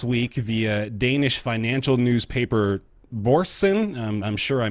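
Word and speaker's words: Børsen: So this is popping up on NeoGAF this week via Danish financial newspaper Borsen. I'm sure I mispronounced that.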